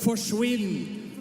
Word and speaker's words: forsvinn: In Norway, we have a word that's called forsvinn, and it rhymes with quinn.